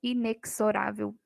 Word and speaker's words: inexorável: palavrinha inexorável Olha só o x aqui tem som de z o correto é falar inexorável e não inexorável não tem som de ks e a letra está